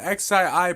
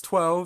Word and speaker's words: XII: But now the part that you guys are really looking forward to is the XII part, and yes, it is pronounced XII, not 12.